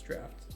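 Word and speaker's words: draughts: crafting potions, poultices, jams, drafts, etc. Also, can we talk about how ridiculous it is that this is pronounced drafts?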